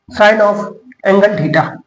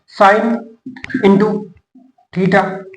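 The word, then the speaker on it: sin θ: इसको प्रोनाउंस करेंगे अपन साइन ऑफ साइन ऑफ साइन ऑफ एंगल थीटा। क्या करेंगे? साइन ऑफ एंगल थीटा, साइन ऑफ एंगल थीटा, इसको pronounce करते हैं, ठीक है। इसको ये नहीं करते हैं, साइन इंटू थीटा नहीं बोलते हैं।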